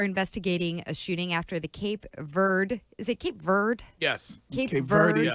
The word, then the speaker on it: Cape Verde: It's Cape Verde.